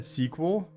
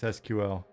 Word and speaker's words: SQL: he say SQL um I always said squl and then I realized like someone told me that I was saying it wrong and it's like it's SQL and I was like